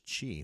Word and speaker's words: qi: The key word is chi, which is also in the East in India is called prana. What that mean? The life force. So chi is spelled Qi. Sometimes you do spell it Chi.